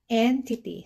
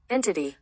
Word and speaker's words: entity: una po ay entity Ayan yung spelling Ayan entity So walang kinalaman yung phonix dito hindi po siya enti okay pakinggan natin si Google entity Ayan pangalawa algorithm Okay Ayan so hindi po